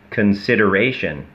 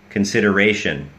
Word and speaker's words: consideration: คำ นะ นะ ฮะ ก็ ยัง ออก เสียง ว่า Con consideration แล้ว ก็ ไม่ ใช่ ชัน นะ ฮะ อ่า ถ้า เจอ ถ้า เจอ อ่า t i o n อย่าง นี้ นะ ครับ ให้ ออก เสียง ว่า SH consideration consideration อย่าง เงี้ย consideration อ้า